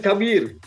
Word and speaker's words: Khabir: Is it Khabir or Khabir? Where Baba? It is Khabir.